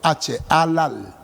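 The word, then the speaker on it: חלל: verbo hebreo al al se pronuncia con h al al y se pronuncia halal como si fuera con jota sí halal y quiere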